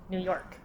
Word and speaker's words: New York: York New York yeah more emphasis on the York New York okay the date is